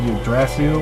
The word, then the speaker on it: Yggdrasil: The last boss of this game, which is also the main bad guy in the Digimon X Evolution, is called Yggdrasil. I believe is how you pronounce it.